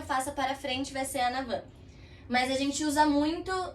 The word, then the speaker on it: en avant: O en avant, que se escreve em avante, é em avant. En avant. Sim? En avant. Porque aquele T também é mudo. Essa é a pronúncia correta no francês.